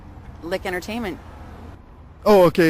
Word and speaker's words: LIC: If it's Lick Entertainment. Oh, okay. It's spelled obviously the way it sounds. LIC Entertainment. Yeah, LIC. No K, just a LIC.